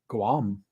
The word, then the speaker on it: Guam: guys is it Nam Guam you do pronounce the G okay I think um